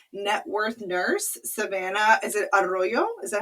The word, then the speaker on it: Arroyo: Is it Arroyo? Is that how I pronounce See, your last name?